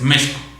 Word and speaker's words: México: representa en sí México, que es como se debe de pronunciar precisamente, México. No México, es México.